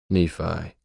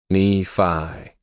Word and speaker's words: Nephi: When I had first heard it pronounced, I thought of the giant and Jack and the Beantock yelling from his castle in the heavens. Fifi faux f I smell the blood of an Englishman. Fifi rhymes with Nephi.